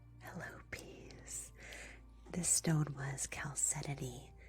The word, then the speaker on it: chalcedony: This stone was chalcedony. It's CH instead of just a C.